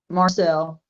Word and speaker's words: Marshall: Is that Marshall or Marcel? How do you pronounce that? Marcel. Marcel.